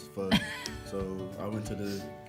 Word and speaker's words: pho: I keep saying pho, but I say it wrong. It's pho.